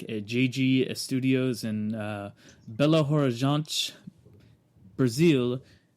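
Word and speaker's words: Belo Horizonte: JG studios in uh Bella Horan Brazil that's how they say it Horan it's very uh I don't know throaty I guess would be the word yeah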